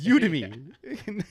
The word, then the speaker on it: Udemy: is you to me it's like Academy it's udemy and that you did